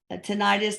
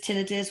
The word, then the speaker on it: tinnitus: hola she's separate from tinnitus tinnitus whatever you want to call it they're both ways to pronounce it will I ever get